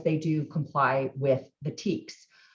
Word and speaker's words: TEKS: So we have state guidelines called the Texas Essential Knowledge and Skills, TEKS is how it's pronounced, TEKS.